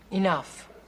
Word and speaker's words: enough: is Big he in enough what see the GH at the end of that word that's pronounced like an F if they want it